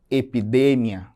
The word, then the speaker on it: epidemia: Outro exemplo é a palavra epidemia. Epidemia. Percebam que está grifado de vermelho também a sílaba de, epidemia. Em português eu digo epidemia, lá no final da palavra que eu vou ter essa sílaba mais forte.